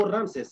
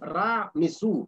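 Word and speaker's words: Ramsés: No se llamó Ramses, se llamó Ra, Mesú. Esto es un nombre correcto, ¿ok? Lo que pasó es que los griegos no podían pronunciar bien el egipcio.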